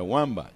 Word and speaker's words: Wambach: Así es que se pronuncia. Wambach.